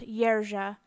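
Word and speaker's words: Jerzy: six is Jersey but in Polish it it would be pronounced yera and it's a form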